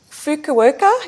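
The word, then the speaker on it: Fukuoka: believe in 1981 when you uh won the fuka worka did I pronounce that right yep you got that Japanese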